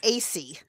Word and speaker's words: Acey: Um but it's pronounced AC.